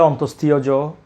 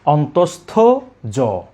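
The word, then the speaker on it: অন্তস্থ য: এটাকে অনেকে বলে অন্তস্থীয় জ, অন্তস্থীয়। এই উচ্চারণটা করে থাকেন সম্পূর্ণ ভুল। আমরা বলবো অন্তস্থ জ।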